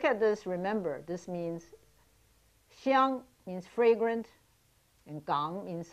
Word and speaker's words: Xiang: For instance, Hong Kong, the word for Hong or in Mandarin is Xiang, It's spelled X-I-A-N-G because in Mandarin it's pronounced xiang.